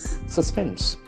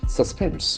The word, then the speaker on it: suspense: c this can be suspense it has got two syllables and the action force on the second syllable suspense it's a beautiful suspense